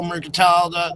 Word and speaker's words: Merkantile: It's It's spelled exactly like it's spelled Merc and tile.